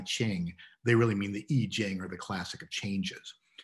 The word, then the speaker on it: I Ching: but that's often written and is often uh pronounced as if it were ai ching so if you've heard anybody referring to the i ching they really mean the e jing or the classic of changes the core of